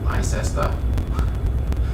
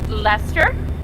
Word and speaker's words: Leicester: It's fun when someone's from Leicester, because y'all Americans say Leicester, which makes me smile, even though that's exactly how it's spelled. okay, so I did get them right. Thank you for letting me know. I attempt to pronounce things correctly. And yeah, I didn't know how to pronounce that. Leicester. So that's how it's pronounced.